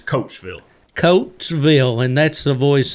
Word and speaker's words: Coatesville: It's spelled Coatesville. So looking at it, looks like it'd be Codysville, but it's Coatesville.